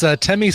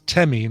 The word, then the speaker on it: Temme: Again, that's Temmie Scott. The song is Understudy. Temmie is spelled Temme, like Lemmy.